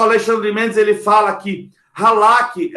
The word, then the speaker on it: halak: A palavra andar no Velho Testamento é uma palavrinha que se escreve, não sei a pronúncia correta, mas é como halak. H-A-L-A-K. Halak.